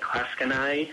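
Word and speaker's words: Clatskanie: to 3-1 with a 24-8 road win at Klatskanai.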